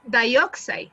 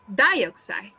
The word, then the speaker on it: dioxide: dioxide the the strong it is not dioxide it is dioxide dioxide dioxide but if